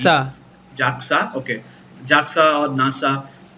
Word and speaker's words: JAXA: He does a lot of weird shit through his life, but from the minute he joins NASA, how is it pronounced? Jaxa.